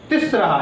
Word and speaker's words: तिस्रः: ठीक है, यहाँ पर लेकिन आप थोड़ा अंतर देखेंगे। एका 1, द्वे 2, तिस्रः। यहाँ पर क्या है? त्रयः, लेकिन यहाँ पर थोड़ा प्रोनाउंसिएशन अलग है, यहाँ पर लिखा है तिस्रः।